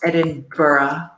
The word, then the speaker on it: Edinburgh: Zurich, Prague, Edinburgh, which I believe is pronounced Edinburgh.